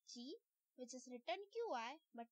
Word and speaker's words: Qi: There are various wireless standards like Qi, which is written QI but pronounced as Qi of WPC.